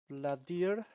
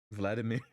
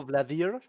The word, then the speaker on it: Vladier: Uh, Vladier. Vladimir, no, Vladier. Also, soft D.